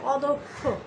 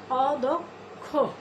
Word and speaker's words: অদক্ষ: এটা থাকার কারণে আমাদের দয়ের উচ্চারণটা ও এর মতো হবে, যেমন অদক্ষ।